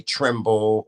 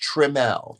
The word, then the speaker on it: Trimmel: my name wrong I don't like when people spell it wrong they say tremble or trimmel it's not trimmel tremel is t-r-i-m-m-e-l my name is just how it's pronounced tremel Tre yes let's say it together trim L